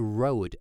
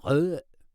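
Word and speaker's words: Røde: So it's not a road, actually. It should be pronounced. It should be pronounced Rode, or Rode, as they say in some parts of Denmark as well. But Rode, Rode, Rode.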